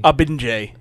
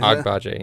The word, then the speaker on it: Agbaje: The guy's name who I held a time trying to pronounce. Adewale Akinnuye. Abinje. Yeah. Agbaje, yeah.